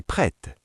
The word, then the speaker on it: prête: Masculin, je suis prêt. Féminin, je suis prête. Vous entendez le T à la fin de prête?